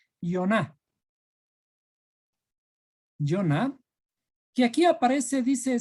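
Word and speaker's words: יונה: Jonás en hebreo se escribe Yoná.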